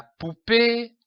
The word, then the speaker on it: poupée: La poupée a une belle robe. Remarquez l'accent sur le E. C'est un accent aigu. Il se prononce E.